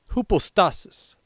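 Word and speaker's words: ὑπόστασις: This Greek word is pronounced hoopostasis.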